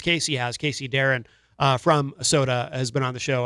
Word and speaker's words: Sotah: That is called Sunrise, and that is the brand new track from Soda, which is spelled Sotah.